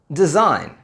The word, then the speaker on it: design: Words like design, assign and foreign. In these words, again, we don't say the 'g' we only say the 'n' and the reason is the same.